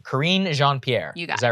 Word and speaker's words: Karine Jean-Pierre: Okay, correct my pronunciation. Karine Jean-Pierre.